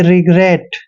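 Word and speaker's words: regret: की मात्रा लिखेंगे और डबल टी का उच्चारण ट करेंगे यानी कि रिग्रेट देखिए रिग्रेट रिग्रेट हो गया अब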